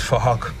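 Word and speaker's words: Phuc: His name is Fahok. We're spelt with a PH, so it sounds like Fahok.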